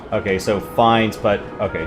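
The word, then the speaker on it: Fiennes: so F okay so finds but okay so the E is silent and uh correct and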